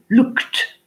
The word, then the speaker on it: looked: le fil du chat, quand le son de la finale de la base verbale est K, alors le D se prononce T.